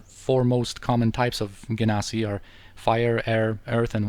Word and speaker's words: Genasi: It's a beautiful deck, a variation on the norm by a Genasi wizard of some repute. And the Genasi, sometimes pronounced Genasi, are basically plain-touched humans.